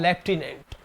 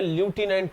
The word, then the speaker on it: lieutenant: तो लेफ्टिनेंट कोई वर्ड नहीं होता है, एक्चुअल में ल्यूटिनेंट होता है। क्या होता है, ल्यूटिनेंट। और ज्यादातर लड़के गलत प्रोनाउंस करते हैं स्टूडेंट्स, और लेफ्टिनेंट कर जाते हैं।